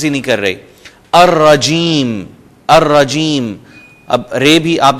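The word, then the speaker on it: الرجيم: الف لام آتے ہوئے لام سائلنٹ ہو جائے گا، اور جو ہی ہم بول رہے ہوں گے تو لام کو ہم پروناؤنس نہیں کریں گے، جیسے میں نے آپ کو مثالیں دے دیں، الشیطان، الرجیم، الدین۔ دوسرے حروف ہم ان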